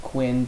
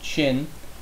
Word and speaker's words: Qin: I know it looks like Quinn, but it's pronounced Qin.